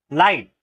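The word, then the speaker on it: light: वो वो गायब हो रहा है ठीक है साइलेंट हो रहा है एल आई जी एच टी क्या पढ़ते हैं हम? लाइट।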